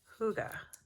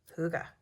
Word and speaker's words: hygge: we put hygge time did you know that's how you say it hygge at least that's my american accent southwest virginian american saying a danish term hygge which basically just means